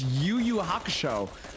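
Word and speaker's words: Yu Yu Hakusho: till you wait till you hear how I pronounce the show's name it's YuYu Haka show uh great show uh did I say it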